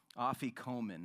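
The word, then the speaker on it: afikoman: bread still done today is placed in a officomen that's the name of this linen I want credit for pronouncing it correctly simply means to come later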